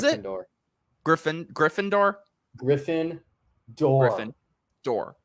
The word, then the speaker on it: Gryffindor: Griffin Gryffindor Griffin doll Griffin door like a door okay Griffin door it's